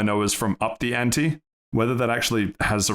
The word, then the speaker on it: ante: I think it's pronounced ain't. Ain't. Ah, yes. Because it's like one of those E's that bossy and it tells it.